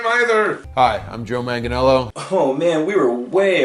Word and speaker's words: Joe Manganiello: I don't know how to pronounce his last name either. Hi, I'm Joe Manganiello.